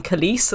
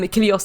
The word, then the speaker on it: Kylios: his name completely wrong we've been saying kalis almost like the the my milkshake singer um so i do apologize um kylios is not bringing the